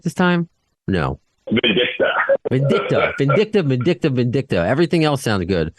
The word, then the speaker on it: Vindicta: Vindicta.